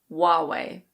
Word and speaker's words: Huawei: This is a Chinese company. I don't speak Chinese so I have no idea how it's said in Chinese, but in English we say Huawei. Huawei.